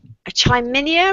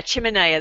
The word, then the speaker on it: chiminea: never company pronounce it is it a try menu or something you know the outdoor wood stoves that you can buy to heat the heaters shaniyah a chiminea there we go and I was